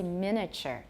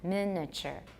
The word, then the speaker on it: miniature: Another one is miniature. I usually say miniature, miniature. 小型的. How many syllables? Miniature. But you can also say miniature. How many? Yeah, I don't usually say miniature, but I can.